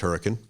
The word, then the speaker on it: Hurricane: I was doing a town hall in a place called Hurricane, Utah, and it's spelled hurricane, pronounced hurricane. Very important distinction.